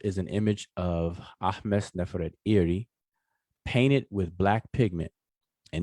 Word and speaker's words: Nefertari: is her name, but we pronounce it conventionally as Ahmose-Nefertari. But her name, even Neferet is we say Nefertiti, and so Nefertari, her name is Neferet-Iri.